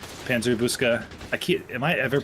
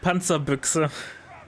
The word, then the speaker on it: Panzerbüchse: of the map against the M16 without the Panzerbuska. I'm never going to pronounce that right. It's Give fine. it to me one time in German. How do you say it? Panzerbüchse.